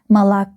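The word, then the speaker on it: молоко: The last syllable is stressed. You can see the stress on the last O in this word. Malo. Malo. But these two letters O they are not stressed. So again we remember about our rule. We read and pronounce them like a and we get the word malo.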